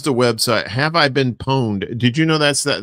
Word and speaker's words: pwned: And it is have I been pwned? Because I had to look that up. I didn't know how you say it. I thought it was like pawned, like a pawn shop.